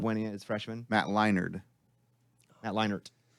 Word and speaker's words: Leinart: Matt Leinart. Matt Leinart. Right. There's no D in his name. Yeah, but it's pronounced Matt Leinart. Say his name. Matt Leinart. See? Sounds like a D.